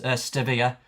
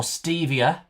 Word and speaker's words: stevia: Um there was one that was that has two pronunciations. Stvia or stevia if Mr. Grady's watching. Um it doesn't mean more Stevie. It's st e v i a.